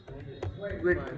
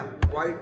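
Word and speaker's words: quit: और एक मेथड और देखा हो क्लियर नहीं भाई क्विट बताया गया क्वाइट मत पढ़ना क्वाइट की स्पेलिंग क यू आई टी ई हो जाएगा ये क्वाइट ये क्वाइट नहीं है क्विट है क्विट करना मतलब होता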